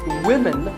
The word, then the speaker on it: women: But remember that we say woman for one woman and women for the plural.